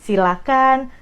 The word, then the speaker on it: silakan: Jadi, silakan, persilakan, jangan pakai H, itu dari pronunciation-nya.